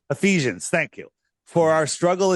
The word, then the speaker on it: Ephesians: It is epiphanies. Is do I say that right? I can't even say it right. 612 Ephesians. Ephesians.